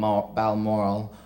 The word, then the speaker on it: Balmoral: return to rainy balm Balmoral bomb Balmoral as my mother said you have to pronounce it balmoral for endless tea and